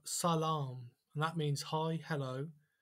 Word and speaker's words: salam: And when you see the double A together, it means it's a long A sound, as in apple, A. So salam.